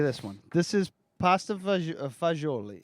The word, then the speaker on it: fagioli: A G is going to be a J. J. these are Fagioli.